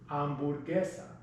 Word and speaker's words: hamburguesa: In Spanish, it's pronounced hamburguesa.